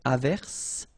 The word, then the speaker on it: averse: j, same thing here, averse, okay, S is pronounced, the E is not pronounced.